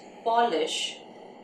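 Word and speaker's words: Polish: पॉलिश एंड पोलिश दोनों का spelling एक जैसा है, लेकिन पॉलिश और पोलिश दोनों की मीनिंग्स अलग हैं, प्रोनाउंसिएशन भी अलग है.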